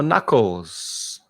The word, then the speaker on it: knuckles: open the door and here are your knuckles your knuckles silent k one two three four